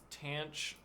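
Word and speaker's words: tanh: Whereas the name Cinch is pronounced cinch. Sure. Tanch, seach, coseach, cotanch, respectively.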